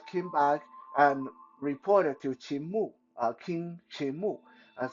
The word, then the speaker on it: Qin: Uh, because the actual pronunciation of that kingdom in Mandarin is Qin.